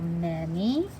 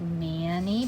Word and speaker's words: many: That looks like Manny because it's a two-syllable word. First syllable man, but we say men. Second syllable E, because Y says E in a two-syllable word. That E sound is spelled with the Y. M-A-N-Y. So it's many.